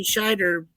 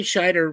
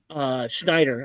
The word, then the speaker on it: Scheider: But Roy Scheider was telling me, he was like, Schneider. I'm saying his last name wrong.